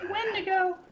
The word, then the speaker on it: Wendigo: pronounced Wendigo.